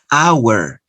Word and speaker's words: hour: heir an honorable idea notice that this word starts with the letter h silent letter so you start with a vowel sound hour no digo hour you